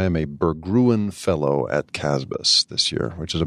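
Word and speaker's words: CASBS: Center for Advanced Study in the behavioral sciences casbahs is the way it's pronounced and it's a Stanford fellowship program that's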